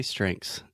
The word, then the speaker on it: strength: before we get started the pronunciation of the word strength this has the th at the end and you can say the th sound but it's really hard because you have the first you have the